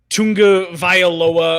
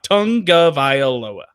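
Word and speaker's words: Tagovailoa: and it was fascinating is literally tongue like the thing in your mouth tongue uh Vai Lowa I'm gonna blow it that's how you pronounce that it is not Tunga viola or I don't even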